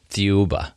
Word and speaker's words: Thiaoouba: How do you pronounce Thiaoouba. it? Thiaoouba.